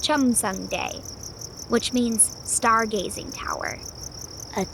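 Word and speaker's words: 첨성대: The tower is called Kiom Day. Is that how you say it? Oh, thanks, Percy. He said it's pronounced Chum Day, which means stargazing tower.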